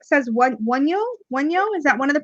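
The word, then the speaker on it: Wunjo: So that would make sense that this is a Y sound.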